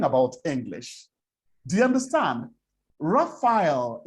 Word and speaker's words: Raphael: Raphael is the real word, Raphael, not Raphael or whatever Nigerians call it.